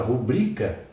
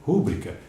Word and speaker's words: rubrica: Por exemplo, a palavra rubrica é paroxítona, não tem acento nenhum. Mas muitos até acentuam aquele U e dizem rúbrica.